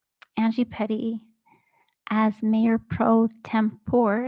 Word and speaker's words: Tempore: And I make a motion to the council to appoint Angie Petty as Mayor Pro Tempore. Is that how you say it? Tempore. Tempore. You can pronounce Okay. it different ways.